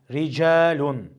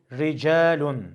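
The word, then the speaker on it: رِجَالٌ: Mesela ricalun ra harfinin harekesi burada esre olduğu için ra harfi esreli olduğunda ince okunması gerekir. Ricalun re r re değil ricalun ricalun şeklinde.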